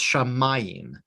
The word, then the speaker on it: shamayim: would know it but it's shamayim the accent is on the meme there's no way you would know it because it's not marked shamayim means heaven a